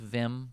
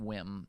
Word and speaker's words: Wim: It's pronounced Vim, but Wim is what it looks like, W-I-M.